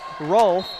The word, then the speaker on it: Rolfe: As that's Rolfe, as I hear Randy Blackwell pronounce his last name, that's the PA announcer. Rolfe scores the deuce, makes